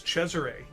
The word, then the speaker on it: Cesare: agree with the saucy i only agree with the modern italian interpretation of that name which is cesare and so uh i